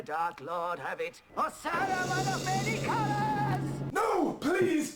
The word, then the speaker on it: Saruman: Something I never understood in the Bashki film, though, is for some reason they stopped pronouncing the S and simply call him Arrowman.